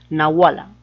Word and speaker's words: nahuala: la nahuala o sea lo está pronunciando como h normal o sea no como si fuera una jota no como una pronunciación de la jota nahuala que te fico plan